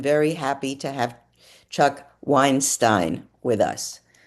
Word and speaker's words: Weinstein: And I'm pleased to introduce Chuck Weinstein who Did I pronounce that right? Weinstein.